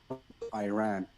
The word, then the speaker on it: Iran: You support the Iranian people, but you're pronouncing our country's name wrong. Our country is named Iran.